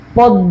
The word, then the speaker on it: পদ্ম: তারপরে দেখো, শব্দের মধ্যে বা শেষে মফলা যুক্ত হলে ম উচ্চারিত না হয়ে সংযুক্ত ব্যঞ্জনটি দ্বিতীয় উচ্চারণ হবে।